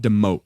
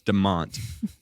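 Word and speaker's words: DeMotte: It's not Demote, even though that's exactly how it's spelled. D E M O T E. It's pronounced Deont.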